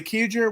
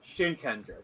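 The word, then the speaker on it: Shinkenger: the pronunciation but say kijer was perfect it was with the samurai Customs the theme the execution it's pronounced shinkender by the way thank you but um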